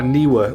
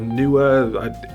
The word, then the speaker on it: Neewer: These are Neewer lights, or Neewer, people pronounce them differently, but N-E-E-W-E-R.